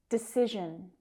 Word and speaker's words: decision: And we have a difficult consonant sound here. It's not present in many languages. It's that zh sound. Zh, zh. Decision, decision. And that second syllable is the stressed one.